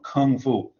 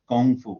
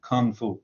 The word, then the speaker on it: kung fu: fu be careful because that's how it's pronounced in english it's pronounced kung kung fu lots of people talk about it in chinese but they use the kind of chinese pronunciation they'll say gongfu or gong gong kind